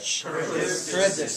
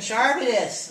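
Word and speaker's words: Charybdis: seen with a Shar how do you say that carus thank you I keep saying shus it sounds like a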